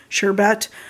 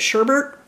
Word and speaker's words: sherbet: they had they had a lot of people pronounce it as sherbet I pronounce it sherbert like so but um